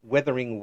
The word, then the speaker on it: Wuthering: Now tell me about this Withering Waves. What's this about? It's so I always pronounce it wrong, but it's Withering Waves. So Like it's Wuthering it's like Heights.